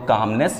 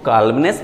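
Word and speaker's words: calmness: आप चाहें तो कामनेस यूज कर सकते हैं, इसको कालमनेस मत पड़ेगा, कामनेस, एल साइलेंट है, तो कामनेस, सी ए एल एम एन E double S, कामनेस आप यूज कर सकते हैं।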